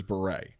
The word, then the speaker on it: Bure: this candace cameron beret this is not burr it is beret and she made a